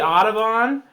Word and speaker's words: Audubon: Designer is Henry Audubon, and I think I got that right.